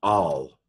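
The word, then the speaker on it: אַל: This is a Aleph, Patak, Lamed, and so this would be pronounced al.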